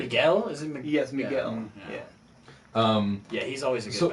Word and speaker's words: Miguel: Yes, Miguel.